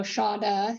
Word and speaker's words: Shada: The pronunciation is a little bit different than how it's spelled. So Shada is how you pronounce it.